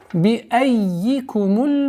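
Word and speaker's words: بِأَيِّكُمُ: Би аййикумуль мафтун. Би айи. Обратите внимание на этот я. Это в науке таджвид называется хуруфу заваид, дополнительные буквы. Не обращаем внимания и уходим на удвоенный я.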